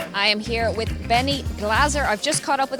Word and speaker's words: Glaser: am here with Benny Glaser. I've just caught up with him at his bracelet ceremony. Maybe the most mispronounced name in poker. We can confirm finally it's Glaser and not Glaser.